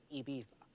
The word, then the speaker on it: Ibiza: Well, first of all, pronounce it properly. Ibiza.